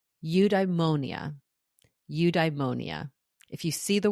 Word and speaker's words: eudaimonia: It's called eudaimonia. Eudaimonia. If you see the word and you try to pronounce it, you'll get tripped up.